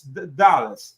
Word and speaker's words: Dulles: The pronunciation is Dallas. I don't want to say anything. No, no, but you're right. It's like the airport in in Washington dedicated also.